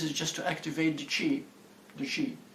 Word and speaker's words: chi: I'm bringing chi into my system.